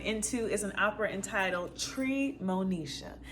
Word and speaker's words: Treemonisha: Today's opera that we're diving into is an opera entitled Treemonisha. That is tree, T-R-E-E, with the second syllable, Monisha, M-O-N-I-S-H. Like Moesha, but you just mix the N and the I, boom.